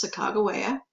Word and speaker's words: Sacagawea: So she will go with them, Sacagawea. You may have heard her name Sacagawea, but the more accepted pronunciation today is Sacagawea.